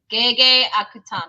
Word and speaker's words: Gege Akutami: Gege Akutami.